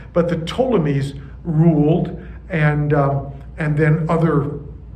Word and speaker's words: Ptolemies: was ruled by the ptolemies that has a silent p at the beginning but the ptolemies ruled and and then